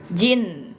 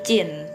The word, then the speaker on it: jin: Nah, jin. Nah, ini bukan dibacanya jin ya, tapi cin ya.